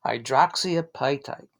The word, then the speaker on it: hydroxyapatite: a few times and you'll get it down hydroxyapai type yeah let me let me phonetically write it here so high is high